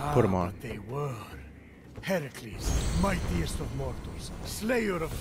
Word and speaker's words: Heracles: Phoenix, after boldly besting the Gorgon that ambushed Heracles. What are you doing there? That thing with your voice? Heracles? Yeah, that! That is how it's supposed to be pronounced.